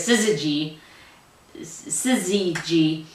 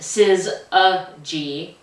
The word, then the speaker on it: Syzygy: I I was like it I was pronouncing it sizz sizzy g and uh he says it's pronounced sis ag and when I uh messaged him on threads